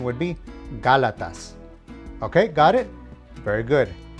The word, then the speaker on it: Gálatas: Even though it ends with the letter S, the emphasis is on the letter that has the accent. So the correct pronunciation would be Gálatas.